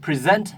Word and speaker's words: present: นะ ครับ Present โอเค Present จะ เน้น เน้น พยางค์ ที่ 2 นะ ครับ แล้ว ก็ ตัว s ก็ ออก เสียง เป็น ตัว Z ครับ Z ออ Present